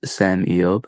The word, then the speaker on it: Sem Eyob: Uh it's spelled S E M E Y O B pronounced Sam Eob.